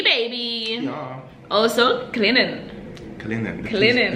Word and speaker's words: Clinton: Also, Clinton. The T is silent.